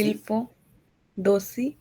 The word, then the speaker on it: il faut aussi: il faut, dosi, दोषी नहीं, देखिए हम लोग क्या करते हैं, लिएजों करते हैं, लास्ट वाले टी को ए के साथ जोड़ेंगे, ओके।